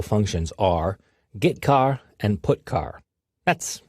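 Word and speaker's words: getchar: common c language character i o functions are git car and put car that's how i pronounce them git car fetches a character from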